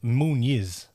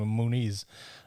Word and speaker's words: Muniz: well by the way it's moon is the way they pronounce it right in brazil as far as i know but all the commentators saying moonies and i was like